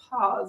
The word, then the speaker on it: Paz: a lot about this her last name is p a z pronounced paws oh i'm so sorry